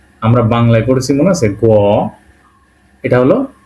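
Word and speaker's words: г: পড়ব এটা পড়বো আমরা বাংলায় পড়েছি মনে আছে গ এটা হল গে এটাকে রাশিয়ান বলা হয় গে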